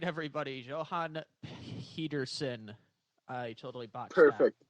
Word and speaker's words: Johan Pedersen: Johan Pedersen. I totally botched Perfect. that. Appreciate you Perfect coming on.